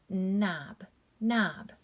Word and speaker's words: knob: Silent K, here we have K-N-O-B, that's going to be pronounced with just the N sound. Knob, knob.